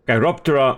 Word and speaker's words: Chiroptera: Chiroptera meaning hand wing. Chiro from hand and ptera with a silent P, of course referring to wing.